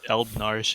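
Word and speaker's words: Eald'narche: No, but it is Eldnarsh in Japanese. Just 2 syllables.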